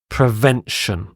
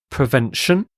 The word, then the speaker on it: prevention: next word is prevention prevention so again you have the sh sound here prevention this is stopping something